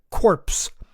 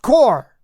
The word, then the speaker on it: Corps: the Marxist socialist propaganda corpse. A tip of the tongue and dishonor to Obama. Remember that when he referred to the Marine Corps as the Marine Corpse, the word is pronounced core.